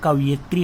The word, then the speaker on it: कवयित्री: तो अब इसमें भी ये ध्यान दे, कवयित्री, हम कई बार इसको इस मात्रा को यहाँ लगा बैठते हैं, लेकिन इसका शुद्ध उच्चारण कवयित्री होता है, ठीक है।